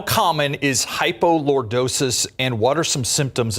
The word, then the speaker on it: hypolordosis: How common is hypolordosis and what are some symptoms as well as treatments for it? First off, what is hypolordosis and am I saying it right?